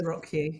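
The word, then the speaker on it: ROCU: organized crime unit or rocku I think is how we pronounce yes rocku yeah rocku yeah um and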